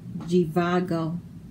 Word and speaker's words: Jivago: Z is for Jivago. Good night, Jivago the zebra. I've enjoyed our rendezvous. Z. So here, the Z sounds like a G. Jivago doesn't make the Z sound.